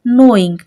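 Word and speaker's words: knowing: है हमारे पास के लेकिन जब हम इसको प्रोनाउंस कर रहे हैं तो हम इसको एन से शो कर रहे हैं नोइंग क्या पढ़ा हमने इसको नोइंग तो के क्या है यहां पे ये भी साइलेंट लेटर है ठीक है ना लेकिन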